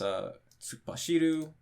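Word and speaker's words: つばしる: So we can see that it's tsubashiru. Pitch accent is on the fourth mora.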